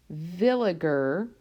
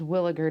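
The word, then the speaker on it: Villiger: this chapter are the Bayer villager right or sometimes williger depending on how you want to pronounce it oxidations so when we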